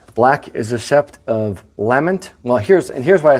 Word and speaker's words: Lamont: So, looking up Lament or Lamont, as the Americans say, we have Lament Ancient, Lament Modern, and Lament Weathered.